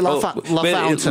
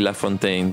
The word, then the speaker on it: LaFountain: Yes, but in Puerto Rico, everybody says LaFontaine. LaFontaine. So that's why I say LaFontaine, but you spell it LaFountain.